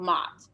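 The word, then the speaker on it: Maat: obsessed with this egyptian goddess called mott so it's m-a-a-t now if you want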